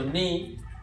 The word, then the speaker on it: ni: So ni, neutral, no accent on the ni, right?